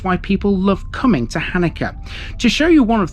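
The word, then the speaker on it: Halnaker: spelling of this one although written as hellmaker the locals refer to this as Hanukkah pronounced almost in the same way as the Jewish Festival believe it or not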